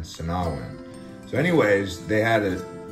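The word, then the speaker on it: Sinagua: how to pronounce it the g is kind of silent to nahwen not sinaguin sinawin so anyways they had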